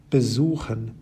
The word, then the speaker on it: besuchen: You may have noticed that all the words on the left-hand side have their stress on the second half of the word, bekommen, vergessen, besuchen, versuchen, verstehen, gewinnen, and entscheiden.